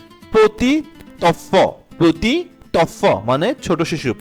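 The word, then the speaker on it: petit enfant: পতি of, normally হচ্ছে পতি এর উচ্চারণটা হবে পতি হবে, আর হচ্ছে অফ এর আলাদাভাবে যদি উচ্চারণ করি অফ হবে। বাট যেহেতু এটা লিয়াজো হয়েছে টি এবং ই, সো টিটা হচ্ছে কনসোনেন্ট, ইটা হচ্ছে ভয়েল। সো টিটা ই কে ধরেছে, দ্যাটস ওয়াই এটার উচ্চারণ হবে পতি, মানে শেষের টিটার উচ্চারণ হবে ত দিয়ে।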